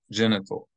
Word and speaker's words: genital: is sexual organ genital genital genital so the middle syllable is not accented genital genital that is